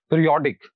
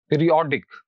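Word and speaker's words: periodic: Next word is this, और इसमें आखिर पर आईसी आ रहा है, और वो तमाम वर्ड्स जिनके आखिर पर आईसी आता है वहां पर स्ट्रेस आखिर से दूसरे वाले सिलेबल पर पुट किया जाता है। तो जो दूसरा सिलेबल है दैट इज ओ, तो it will be pronounced like this, पीरियोडिक, पीरियोडिक, पीरियोडिक।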